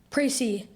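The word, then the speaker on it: précis: points statements or facts am I pronouncing it right pry yes pry p r a c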